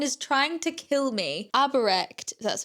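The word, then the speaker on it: Aubrecht: Aberect, that's how you say his name.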